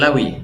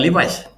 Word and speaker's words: Levi: Jin Lawi namanya, L-E-V-I, bacanya Lawi, bukan Levi's.